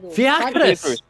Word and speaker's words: Fiacrus: Fiacrus! Fiacrus! Oh, Fallon. Why is it going Ficarus? Fiacrus.